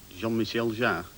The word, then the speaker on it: Jean-Michel Jarre: Jean-Michel Jarre. Pronunciation perfect.